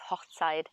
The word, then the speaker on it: Hochzeit: when we say Hochzeit, if you pronounce it together, it's Hochzeit, and that means to get married, a wedding.